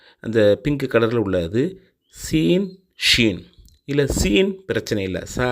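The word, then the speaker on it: شين: தரும் இரண்டாவது உள்ள அந்த ஷீன் இருக்குல்ல அதுதான் புஷ்ன்னு காத்து வர்ற மாதிரி அதாவது இங்கிலீஷ்ல எஸ் ஹெச் போட்டா என்ன உச்சரிப்பு வருமோ அந்த மாதிரி ஷ ஷி ஷு அப்படிங்கிற உச்சரிப்பை தரும் அதுக்கு அடுத்து பச்சை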